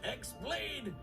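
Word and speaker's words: χ-blade: destroyed yeah means the x-blade it's just pronounced like keyblade even though it's just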